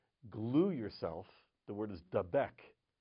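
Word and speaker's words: דבק: The word is dabek. It's spelled dalad bet kuf.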